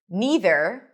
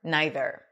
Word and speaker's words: neither: And the same thing with this word neither or neither. Either either.